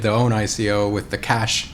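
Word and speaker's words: QASH: time they did the own ICO with the cash q yo Q a sh token which I'm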